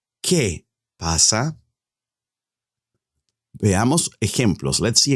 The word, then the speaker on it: qué: Don't forget, you do not pronounce the U. ¿Qué pasa?